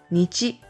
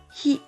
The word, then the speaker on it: 日: There are two pronunciations, nichi and hi.